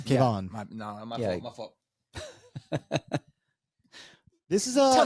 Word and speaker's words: Kevon: Next up, we have Roman Dolidze at plus 141 versus Kevin Holland at minus 161. I think you pronounced that wrong. I think it's Kevin Holland. Oh, hey, my bad, guys. He's from Houston. It's Kevon.